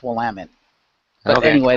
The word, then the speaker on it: Willamette: It's pronounced Willamette.